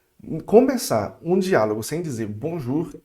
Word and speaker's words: bonjour: Então, olha aqui, vamos colocar aqui em amarelinho, o O com U fica bonjour, tá certo?